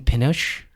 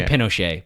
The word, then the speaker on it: Pinchot: Now, the opposite of that, when Bronson Pinchot, I pronounce it Pinchot. Pinchot? I say Pinochet, but I know that's not correct.